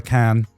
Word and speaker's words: Khaen: No, not Cancun. Yeah. Just can.